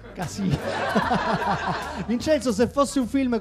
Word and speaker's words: Casino: Io è uscito Scorsese, che è pur sempre italo-americano, e dico Casino, però senza l'accento sulla O. Casino.